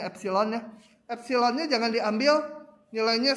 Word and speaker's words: epsilon: Nah, untuk setiap ini, ingat kalau gini artinya ambil dulu epsilonnya, satu bilangan, tapi jangan diambil, ini bacanya epsilon ya.